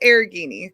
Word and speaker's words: Arrighini: It's Arrighini. Kind of like Lamborghini.